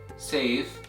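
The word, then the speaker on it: سيف: You see this word, which is pronounced as safe, safe, which means sword in Arabic, and the second word that is pronounced as soif, soif, which means summer in Arabic.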